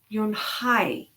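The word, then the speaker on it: Unhei: Kim then turned to Joey and nodded slowly yes it's pronounced yum hi and it means grace mr. Kim added you and hi Joey said slowly and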